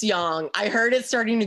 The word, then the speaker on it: yang: my hand it's pronounced young yeah a lot of people say yang but it's it's young okay great we froze